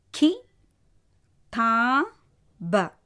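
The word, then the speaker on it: किताब: அடுத்தது கி தா ப. கி தா ப. ஸோ ப வந்து வியஞ்சன். அகெயின் எப்படி உச்சரிக்கணும்? இப். ஸோ கி தா ப, கிதாப்.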